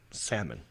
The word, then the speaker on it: salmon: Just pretend the L's not even there. Salmon. Yeah. I know you want to hit that L, don't you? I do. I know. Because it's in there. It's how you spell it. It is in there. So it's silent L. Salmon.